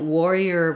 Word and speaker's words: warrior: when we're looking at Warrior versus Voyer um slightly different differences um got to spell Voyer correctly Voyer so Warrior has first syllable stress and voer has second syllable stress so that's one difference